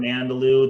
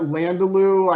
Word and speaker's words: Andalou: Can you what was that Landaloo? I know Jesse's talked about this. Can you spell that for people, because that's Andalou?